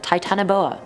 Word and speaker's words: Titanoboa: Titanoboa.